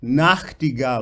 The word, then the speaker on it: Nachtigall: So, Nachtigall, Nachtigall, Nachtigall, no, Nachtigall, I need to hear the Nacht as well, Nachtigall, right? So Nacht is a bit more important than Gal, Gal is important.